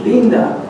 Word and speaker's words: linda: And I love the word linda because it's, the I's in Spanish have a long E sound, so it's linda, which means beautiful.